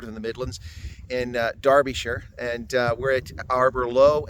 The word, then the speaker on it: Derbyshire: Anyway, folks, from Derbyshire, because I think that's how you say it. Of course, in American we'd say Derbyshire.